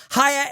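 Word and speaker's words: Haier: Hire is spelled H A I E R.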